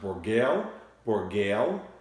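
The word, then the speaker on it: Bourgueil: So the most popular wine tonight was coming from an area in the Loire Valley of France, and this area is pronounced Bourgale, and there's also a couple of other areas in the region of Loire Valley.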